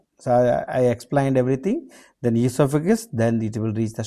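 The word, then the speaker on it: oesophagus: So ego esophagus we the spelling is o e s o p h a gu. So you have to you know pronounce as esophagus.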